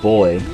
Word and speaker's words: buoy: a boo M well I know some people pronounce that word boy but uh I think it depends on which part of the world you live in well I always thought